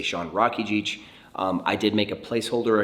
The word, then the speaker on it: Rakidzich: And that's my name, Rakidzich, R-A-K-I-D-Z-I-C-H. It's my last name, hard to spell, harder to pronounce when you're reading it, Rakidzich.